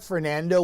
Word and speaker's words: Fernand: The next named storm, it'll look like Fernando without the O when you see it spelled out, but it's actually pronounced Fernan, which is really bizarre.